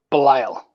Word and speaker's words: Belial: And I watched the Kickstarter video for, now how do you pronounce it again? Belial.